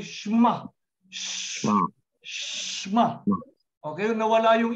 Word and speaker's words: Shema: You don't say Shema. You don't say Shema. You say Shema.